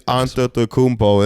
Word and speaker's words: Antetokounmpo: It's Antetokounmpo.